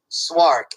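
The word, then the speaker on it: Szwarc: oh it's Jano j n n o t swark SZ w a r c directed Jaws too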